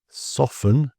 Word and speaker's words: soften: Often the T here in words like this are just ignored or very underplayed. So some examples: listen, whistle, castle, soften, and bristle.